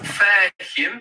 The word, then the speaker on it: فاهم: So it's fahim, and actually, when that, it sounds like an E, doesn't it?